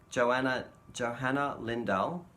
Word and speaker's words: Johanna Lindahl: I'm just going to check to see that I'm pronouncing her name correctly. Yeah, Johanna Lindahl.